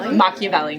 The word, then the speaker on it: Machiavelli: Machiavelli.